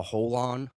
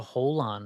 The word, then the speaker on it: holon: But have you ever heard of the the concept of a holon? A holon. A holon. Is that spelled like WHOL, like No, whole, or uh, HOLON.